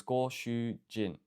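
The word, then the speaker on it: ご主人: So this kanji is a reading of ju, and then this has a go. No, sorry, this is shu, so it's go shu jin, which is a lot better than what I've got here.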